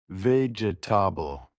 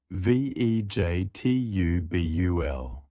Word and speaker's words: vegetable: Wrong. Vegetable. 4 syllables. Correct. vegetubul. 3 syllables. Let's say it slowly. vegetubul.